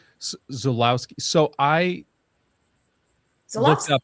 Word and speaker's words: Żuławski: Quick note, it's actually pronounced Żuławski. Żuławski. He's from Poland, and in Poland the W sounds like a V. Żuławski.